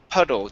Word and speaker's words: puddle: a D sound okay so instead of P it's PUD puddle just like water PUD puddle puddle okay